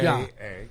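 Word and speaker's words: já: J-A. It's pronounced ja.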